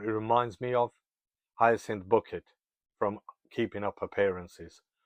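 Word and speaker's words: Bucket: reminds me of ient booket from Keeping Up Appearances or should I say bouquet as she insists on pronouncing it she's such a perfect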